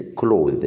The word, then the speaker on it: cloth: cloth الاس في الاخر مش بتتنطق.